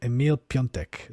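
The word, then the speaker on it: Emil Piątek: Yeah, Emil Piontek, said fast like Emil Piontek. Surname means Friday.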